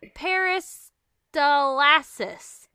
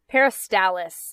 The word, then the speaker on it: peristalsis: tbt to necro necromania millennia anyways it's called peristalsis peristalis i believe peristalis ding ding ding ding and that's the process